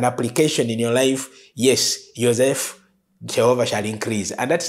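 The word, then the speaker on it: יוסף: And the meaning of Joseph, in Hebrew you pronounce Yosef.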